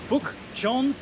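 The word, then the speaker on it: 북촌: So we are going to Bukchon Village. That's correct. Is that correct? Bukchon Village, Bukchon Village, okay.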